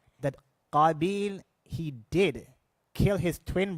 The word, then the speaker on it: Qabil: So Qabil rhymes with the word qatil.